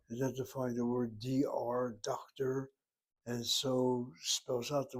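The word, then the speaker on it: דוקטור: And you'll notice that the accent in the word doctor is the first syllable. Again, this is a borrowed word. A borrowed word will basically not follow the rules of Hebrew necessarily. And that's why she puts the emphasis on that first syllable.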